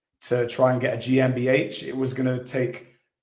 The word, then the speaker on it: GmbH: Yeah, GmbH. That's how you pronounce it, GmbH.